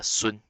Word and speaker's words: Sun: pronounce it English but in Mandarin Chinese is pronounced soon it doesn't have a